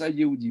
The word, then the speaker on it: היהודים: C'est-à-dire que c'est écrit avec 2 yud et ça se prononce avec un seul yud. Ah. C'est écrit Ayeudim et ça se prononce Ayeudim.